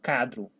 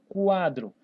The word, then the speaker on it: quadro: Tem que ficar atento, pessoal, na palavra, por exemplo, quadro. Ó, quadro. Eu pronuncio o U. Né? Eu não falo cadro. Eu falo quadro.